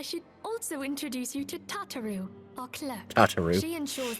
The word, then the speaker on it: Tataru: also introduce you to tataro our clerk tar she ensures that everything runs smoothly they would go on to start pronouncing it tataru please to make your